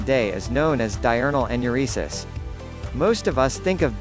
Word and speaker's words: enuresis: being able to control your pious and ureases pronounced enuresis sometimes enuresis is also called involuntary urination nocturnal